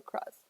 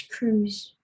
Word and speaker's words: Cruz: Is it Cruz or Cross? It's Cruz.